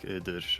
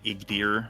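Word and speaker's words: Iğdır: No, just people need to know that okay, if there's a G with an accent on it, just don't pronounce it. Just nothing. Yeah, it's just like it's extend the vowel before it, basically. Yeah, like Idir or whatever is. Yeah. It's so easy to say Igdir, but yeah, but if I'm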